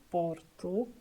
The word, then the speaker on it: Porto: And the last one, letter O, situated at the end of the word, mainly sounds like o porto, o menino, o menino.